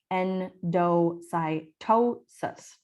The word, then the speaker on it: endocytosis: okay so endocytosis again with the phonetic spelling endocytosis that's how you pronounce it this is when a